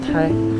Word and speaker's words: 台: 的天台山，它这发音念台，相当于 28 星宿的这个台宿，和其他地方的天台山，因为很多地方天台山它发音念台，就说形容它很高、很平嘛，所以叫天台山。但这边它是和星宿有关，所以叫天